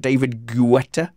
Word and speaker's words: David Guetta: youtube earlier uh matt who's the musician involved david guetta yeah yeah that is how you pronounce it it is it is like i